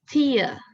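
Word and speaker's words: tear: is the second word it was t-e-a-r so i will pronounce it as tia tia may i know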